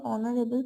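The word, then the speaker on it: honourable: এ বসেছে এবার এক্সেপশন হচ্ছে দেখো নিচের দিকে অনারেবল পার্সন তো এখানে এইচ কনসোনেন্ট এর কিন্তু এর উচ্চারণ হচ্ছে ভাওয়েলের মতো আমরা সাধারণভাবে অক্স আর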